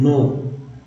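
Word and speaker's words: know: जी एन में के एन में जो है के साइलेंट है, जैसे लिखते हैं के एन ओ डब्लू, नो।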